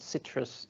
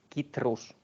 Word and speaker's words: Citrus: thing to see that this fruit is not Citrus it's kitus and uh yeah then